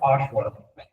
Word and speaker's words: Oshawa: Pronounced Oshawa.